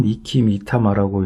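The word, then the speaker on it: 和魂: 화호는 왕의 곁에서 목숨을 지킬 것이고 화호는 니키미타마라고 읽고 황호는 아라미타마라고 읽는다.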